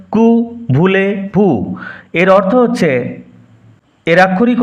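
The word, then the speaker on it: Que voulez-vous: কু ভুলে ভুই রিপিট কু ভুলে ভু কিউ ভুলেস ভাউস এরকম উচ্চারণ হবে না। এটা ফরাসি উচ্চারণ কু ভুলে ভু এর অর্থ হচ্ছে এর আক্ষরিক অর্থ হোয়াট ইউ ওয়ান্ট তুমি কি চাও?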